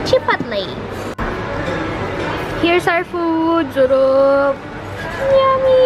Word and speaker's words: chipotle: chipotle chipotle binasa ko kasi ' ba ang pronunciation ko do is chipotle gugel ko syempre ito siya oh chipotle tapos which comes from chill pole meaning smok